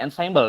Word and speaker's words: ensemble: dari kata Ensemble yah walaupun tulisan Ensemble tetapi bacanya Ensemble dari bahasa Perancis yang berarti bersama-sama artinya